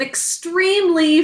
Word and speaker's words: extreme: Everybody sound it out with me. Extreme. 2 syllables. In the first syllable, it's X. That's the phonogram X in that syllable. Next syllable, T, E, M. 4 syllables. Extreme. E says its name because of a silent final E, job 1 in this word.